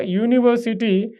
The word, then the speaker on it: university: So a table a computer a university here university uh even though it is wave alphabet u but the sound represents like yeah u y is hidden.